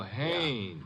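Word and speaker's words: Haines: I what did you say his name is hannes h a i n e s oh oh Hanes yeah do you know him unless your fell named Hines used to fish out no no not Hines hannes couldn't be Huntingburg no it couldn't be the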